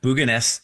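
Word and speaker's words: Bugøynes: Tell me, first of all, just as a scene setter, what happened to this little Norwegian fishing village of Bugoynes, if I'm pronouncing it right? Yeah, Bugoynes.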